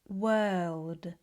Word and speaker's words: world: work verb girl burn world were thirst fur work Once this feels more familiar, you can practice more words that are spelt with O, but are pronounced with er.